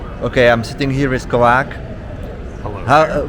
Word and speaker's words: KovaaK: What's the correct pronunciation? For me, it was always like KovaaK. That's close enough. Yeah. I've always just said KovaaK. Even Rafa says KovaaK. So, Yeah. it's all over the place.